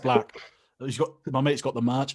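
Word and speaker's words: 6LACK: can i just say i know it's pronounced black but i will die before i stop calling it six o'clock six yes um my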